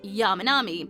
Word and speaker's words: Yamanami: It always was Yamanami, plain and simple, but Keisuke himself changed the way it was read. Changed it to Sanan. On purpose. To the derived Chinese pronunciation because he preferred it. Preferring it because he was known to love Chinese poetry and for the language itself. Changing his name from the kunyomi reading to the onyomi reading would bring him